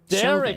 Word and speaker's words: Chauvin: Chauvin, that's how you say it.